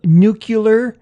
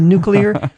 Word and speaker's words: nuclear: of prescribed yes or the famous one of nucular instead of nuclear those are met they're